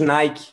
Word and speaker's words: Nike: comencé la clase, que originalmente Nike, que es el nombre de una diosa griega, ¿vale? Y la pronunciamos Nike. Así que es Nike, la correcta, y Nike, como lo dicen los hispanos y los brasileños.